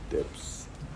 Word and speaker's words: Debs: Bacanya Debs ya? Debs.